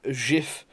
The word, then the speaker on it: GIF: So as you can see, here's a GIF, as you're supposed to pronounce it, but I pronounce it GIF because I'm not a weirdo.